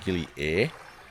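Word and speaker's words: Gili Air: think I don't know how people pronounce Gilly in Indonesian a I r is a which means water which is probably how it should be pronounced but I'm pretty sure most people say gilly air as is in like the the air.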